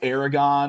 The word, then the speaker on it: Aragorn: he was like yeah I'm pretty sure his name is Aragorn I've heard it pronounced Aragon in some places in some of them in some of the movies they call him Aragon but I've always called him Aragorn and I was sitting